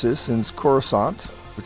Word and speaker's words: Kursant: I looked up to find out how to pronounce this since corant which says Cadet which the list is abua